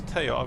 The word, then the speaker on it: Taog: I should say I recently learnt, I think, that it's Taog. I've always pronounced it Taogs, but it's Taog.